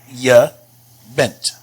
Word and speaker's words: je bent: And this is pronounced je bent. Pay attention to this J here. It's pronounced just like the English Y.